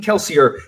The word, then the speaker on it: Kelsier: two syllables i mean kelsier is really two syllables we can say that